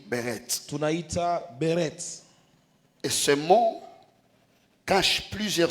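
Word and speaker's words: ברית: l'alliance dans son origine, le mot hébreu qui traduit alliance c'est le mot qu'on appelle beret. Ça s'écrit comme ça comme berit mais ça se lit beret.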